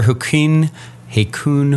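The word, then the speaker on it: Hakuin: actually just read it here real quick Master hin hun I don't know if I'm pronouncing it right h a k u i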